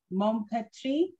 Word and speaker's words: Maupertuis: And today on our show, we have the lovely Danielle Maupertuis. Have I pronounced that correctly?